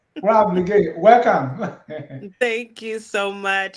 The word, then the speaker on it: Wala Blegay: Let me welcome now the councilwoman, Rob, and I'm being very intentional with the pronunciation. Rob Blegay, welcome.